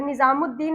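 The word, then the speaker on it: निज़ामुद्दीन: अगर निजामुद्दीन आप लोग लिखे होंगे या पढ़े होंगे तो आपको पता होगा कि वहां पर अलीिफ और लाम दोनों साइलेंट हो जाता है।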